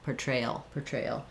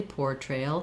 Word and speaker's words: portrayal: Yeah, same thing, 3 syllables. Middle syllable stress, portrayal. This or, if I'm saying it slowly, portrayal, his portrayal, we do tend to reduce that.